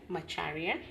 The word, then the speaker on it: Macharia: Macharia, but you um as I told you earlier, you can call me.